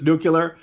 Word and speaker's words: nuclear: Bower that's Jack Bower if Jack Bower says it's nuclear if Jack bow says it's a three- syllable word then it's a three-